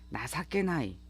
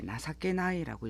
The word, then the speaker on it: 情けない: 단어 형용사 glpt n1의 나사케나이 이 뜻정차를 써서 이렇게 나사께 나이라고 읽어요 명사 나사께가 있고 여기에